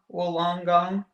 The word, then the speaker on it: Wollongong: Wollongong.